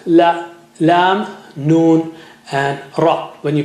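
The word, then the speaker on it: لام: Touch the tip of the tongue to the upper gums near the root of the teeth.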